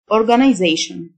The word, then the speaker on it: organization: منظمة organization، T-I-O-N تنطق شن، organization.